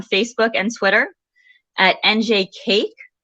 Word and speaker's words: CAIC: Easier to remember, you can check us out on Facebook and Twitter at NJ Cake. Cake is spelled CAIC.